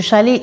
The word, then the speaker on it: chalet: mais eux ils appellent c'est vraiment chalet, ça se prononce comme ça à la française sauf que c'est pas la montagne c'est en bord de mer.